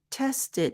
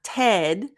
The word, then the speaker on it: tested: the t ending sound so test becomes tested tested now notice it's not Ted like Ted Talks tested tested so the